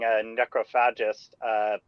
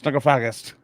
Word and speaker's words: Necrophagist: Well, I mean, I was pretty surprised to find out that I was pronouncing necrophagist wrong.